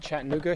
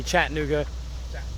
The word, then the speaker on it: Chattanooga: Carly they they put the Riverside Chattanooga Show on every March actually it's always my